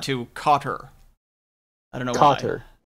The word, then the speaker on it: Qatar: Well, the other thing is like I didn't know much about Qatar, so when I watched this clip before we got the show started, this was very informative to me.